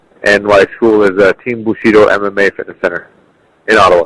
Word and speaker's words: Bushido: And my school is Team Bushido MMA Fitness Center in Ottawa.